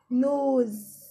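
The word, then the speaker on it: nose: نوز. اس بس بننطقها ز. نوز. الاي هنا مش بننطقها عشان هي ماجيك اي ما بننطقهاش.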